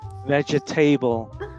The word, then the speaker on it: vegetable: That's a tricky one because when we read the word phonetically, it should be vegetable, right? But English is not a phonetic language.